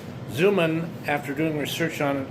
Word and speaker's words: Xuman: He goes by Jim, but his full name is James Darren Zuman, and it's spelled X U M A N. Zuman, after doing research on